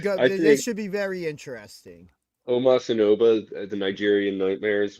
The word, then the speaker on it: Omos: Because you spelled his name wrong. It's Omos.